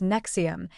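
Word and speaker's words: NXIVM: The organization operated under the name Nexium, pronounced as Nexium, and initially attracted thousands of participants, including successful professionals, actors, and wealthy individuals seeking self-improvement.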